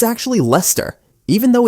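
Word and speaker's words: Leicester: I used to say Lester Square, but it's actually Lester. even though it's spelled Lester.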